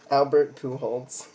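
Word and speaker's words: Albert Pujols: no pool oh okay Albert pools that's how he pronounces it okay I'm not joking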